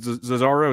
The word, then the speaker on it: Zozzaro: Is it Zozzaro? Is that the proper pronunciation?